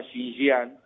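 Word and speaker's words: Xinjiang: tiene una provincia que se llama shinan se escribe x i n J I a que tiene 10 millones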